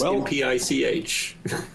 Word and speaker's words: MPICH: uh somebody tell me what is the correct pronunciation it's npic even says that in the book but but we've given up um even even I have been known to say impit from time to time